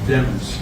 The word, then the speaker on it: Demons: uh I've been mispronounced the defendant's name is pronounced demons d-e-m-o English uh lens with a d is